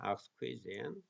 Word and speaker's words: exquisite: 아주 그 exquisite 발음이 exquisite입니다. exquisite.